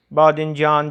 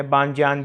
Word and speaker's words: بادنجان: کے بعد ہے بادنجان، بادنجان جو ہے بینگن، عام تلفظ میں بانجان بھی بول دیتے ہیں، بادنجان بینگن۔ گوجه فرنگی